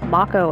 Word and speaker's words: Mako: Now, I will state, yes, the proper pronunciation is Mako energy.